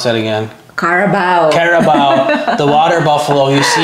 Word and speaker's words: carabao: And you see the caribou, how do you pronounce that again? Carabao.